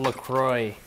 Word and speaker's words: LaCroix: It's called LaCroix. What? No, it's LaCroix. It's pronounced LaCroix, I think. LaCroix, it says right here. LaCroix. French LaCroix. Yeah, it's LaCroix. The X is silent.